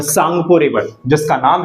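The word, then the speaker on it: Tsangpo: क्या कर सकते हैं इसमें टी जो है बेटा वो साइलेंट होता है एंड एस ए एन जी पी ओ सांगपो इज़ the spelling of इट ठीक है तो टी सांगपो नहीं बोलेंगे हम इसको टी साइलेंट सांगपो बोलेंगे ऑलराइट जैसे ही ये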